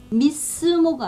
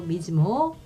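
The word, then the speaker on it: mismo: 다른 자음이 올 때 미스모가 아니라 미즈모예요. 미즈모. 그 다음에 이것도 시스네 아니고 시즈네. 그래서 에세 다음에 또 다른 자음이 연달아 오면 즈로 발음한다는 거 기억해 주시면 좋을 것 같고요.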